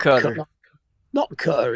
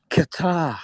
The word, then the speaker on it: Qatar: Hey Joe, they just they just announced that Qatar shot down two Iranian jets. P1. Okay. Cutter. Good. Noar shot down two Iranian incoming jets. Not cutter. It's Qatar.